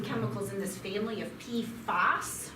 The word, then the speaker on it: PFAS: in this family of p foss when i say p f a s p fast that's the family when i you when you hear people say p foes they're generally saying pfos i will spell it